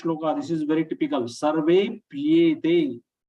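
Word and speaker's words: सर्वेऽप्येते: Sarvepyete. Most of the people, 99% people will be pronouncing it as Sarvepyete, double p. Sarvepyete, which is not the correct way.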